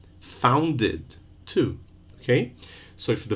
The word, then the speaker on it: founded: Found, one syllable. Founded, two.